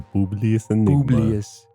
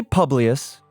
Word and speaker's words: Publius: Publius Publius Enigma the Publius it's Latin some people say Publius because that's kind of how it's spelled p u b Richard